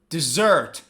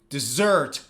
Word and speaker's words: dessert: But the other one, dessert, dessert, dessert. Where's the stress? On the second syllable.